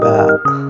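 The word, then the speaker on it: ب: This letter is ba. Repeat after me. Ba, like in bee.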